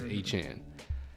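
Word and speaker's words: Achane: Chan almost at 18 but that is not how it's pronounced anymore it's a Chan uh eight for 101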